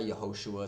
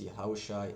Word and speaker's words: Yahawashi: And it's not Yahosua, it's not Yeshua, it's Yahawashi and Yahawah.